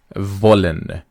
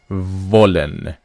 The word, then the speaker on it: wollen: model verb is volen remember that when you want to pronounce this W in German which is VE it is a leod dental sound which means the upper lip touches the the lower teeth so we say volen